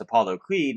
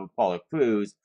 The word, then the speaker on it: Apollo Crews: joke on TV that everyone was mispronouncing him as Apollo Creed instead of Apollo Crews.